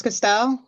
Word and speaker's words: Castel: yeah, is it Castal? How do you say that? Castal? Mine's Castell. Yeah, and then Clay Concern. Mines Castal. Okay, Mines Castal, Clay Caserne, Crestview, and Occam.